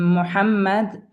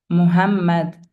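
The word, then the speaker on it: محمد: Ha as in Muhammad Ahmad, usually wrongly pronounced as Muhammad, Ahmad.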